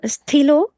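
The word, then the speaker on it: stylo: Like I have the stilo, actually it is stilo, but we just pronounce it as stylus.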